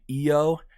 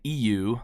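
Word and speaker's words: ʻio: All right, let me just clarify real quick that the Hawaiian hawk is actually called the io and not the iu like I was pronouncing it earlier.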